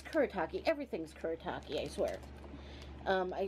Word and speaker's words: Kuretake: my wheelhouse um uh i'm not even sure how to say it choreo um like brush marker i want to say i have one of these it's kuretake everything's kuretake i swear